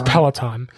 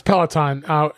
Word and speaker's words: Peloton: He kept mispronouncing it. I didn't want to correct him. It was hilarious. Peloton. But it's Peloton. Okay. It's Peloton, which is a workout service that they have.